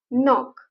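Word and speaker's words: knock: विण किंवा विणकाम करणे अगेन नॉक के सायलेंट लेटर नॉक ठोटावणे किंवा धडकणे नॉक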